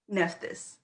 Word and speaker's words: Nephthys: You might have to help me, Maroa, with this pronunciation. Is it Nephthys? Nephthys.